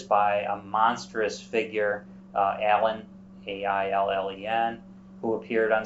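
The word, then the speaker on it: Aillen: for many years by a monstrous figure uh Allen a-i-l-l-e-n who appeared on sound was eventually vanquished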